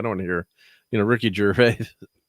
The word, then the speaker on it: Gervais: Like I don't want to hear Ricky Gervais. How do you say his last name? Gervais.